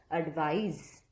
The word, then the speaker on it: advise: s advice and advice with an s is pronounced as zed advice so advice is a